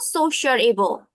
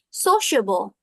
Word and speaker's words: sociable: some pronunciation for sociable it's not socialable socialable no it's not like that it's sociable okay sociable so you